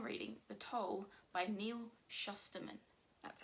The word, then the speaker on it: Shusterman: time currently i'm reading the toll by neil shusterman that's how you say it this is the